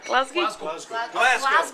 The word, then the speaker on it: Glasgow: Glasgow. Pronounce the S like a Z.